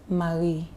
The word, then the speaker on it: Marie: But yours is what? Marie. L-I. M-A-R-I-E. M-A-R-I-E. Marie. Is it R or Al? R. Is that how you pronounce it? R, yes. Marie.